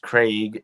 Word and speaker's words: Craig: she's gonna do jenny craig she's not and that's also gonna make people mad sorry in the uk it's pronounced craig in the u.s it's craig so if i go